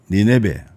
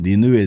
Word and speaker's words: 니네베: 그래서 그가 쓴 책 니네베, 우리 성경에는 니느웨 되어 있지만은 원문상 발음은 니네베와 바벨론의 유적 발견.